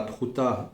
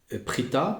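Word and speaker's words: פריטא: Ben, ouais, c'est comment dire, il le dit là aussi, donc de la manière dont s'écrit Prouta, hein, euh, Peresh Yud Tet Aleph, eh bien on peut aussi dire Prita, pardon, Prita, et Prita en araméen ça signifie ouvrir.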